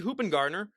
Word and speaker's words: Hoopingarner: We have Hoopingarner. Got that right, everyone. I know that was one of those. I mean, I was nervous ahead of time, but luckily it's pronounced exactly like it's spelled.